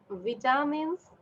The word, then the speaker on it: vitamins: Then number 6 is vitamins, vitamins, vitamins. VITAMINS, vitamins. Number 7 is minerals, minerals, mineral. সবাই যাকে লিখতে বলেছি miss আমরা ভিটামিন উচ্চারণ করি না, আমরা ভাইটামিন উচ্চারণ করি।